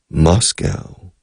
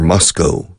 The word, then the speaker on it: Moscow: Moscow is the capital, or Moscow, two pronunciations.